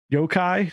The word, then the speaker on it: yokai: So it's got normal people in it, but then it also, its story hook is that there's yokai. Am I pronouncing that right?